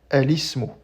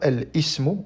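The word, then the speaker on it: الاسم: par exemple de l'article l et dans ce cas-là, on dit alismo, on dit pas el ismo, on dit alismo.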